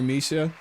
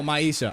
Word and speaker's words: Maisha: I appreciate you being here, Misha. Oh, Maisha, I mispronounced your name.